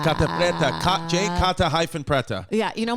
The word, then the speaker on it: Catta-Preta: Oh, I like how you say my name, Catta-Preta. Catta-Preta.